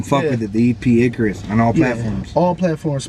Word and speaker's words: Icarus: How do you pronounce it? Chale. The EP or the name? No, the name of the EP. Icarus.